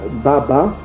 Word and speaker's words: baba: L'ancien hébreu, le mot père se disait Baba, comme on prononce encore en Swahili.